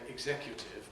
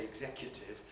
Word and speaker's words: executive: style and social class now i say executive because that's the kind of person i am if i were to say executive either i'm being very colloquial or i'm pushing myself down market you don't need to